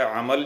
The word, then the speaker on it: عمل: الفاظ پڑھیں گے۔ دیکھیے، پہلا لفظ ہے عمل، جس کی پہلے اور دوسرے لفظ کے اوپر زبر آتی ہے، جسے ہم کہتے ہیں